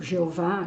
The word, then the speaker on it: Jeová: A reverência dos hebreus para com o nome de Deus, na verdade, é um tetragrama, né, sagrado composto pelas letras YHWH, e que nós pronunciamos, por exemplo, Jeová, Javé.